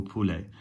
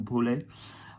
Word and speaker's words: poulet: Elle haït la soupe au poulet. Méprise is she is contemptuous of, she despises. So elle méprise la soupe au poulet. I keep saying poulet wrong. Poulet.